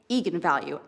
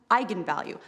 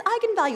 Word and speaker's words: eigenvalue: and said that's right egon value and then apparently the internet went nuts when it came out because apparently it's pronounced eigenvalue that's how you're supposed to say I'm the director don't